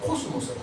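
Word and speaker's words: κόσμος: 그래서 이 우주라고 하는 말이 헬라로 코스모스라는 말이에요. 코스모스. 가을에 피는 코스모스와 발음이 똑같습니다.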